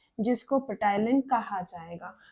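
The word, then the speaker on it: ptyalin: और नाम है जिसको पटाइन कहा जाएगा पी साइलेंट होता है हम इसको टाइलन भी प्रोनाउंस करते हैं इसका फंक्शन है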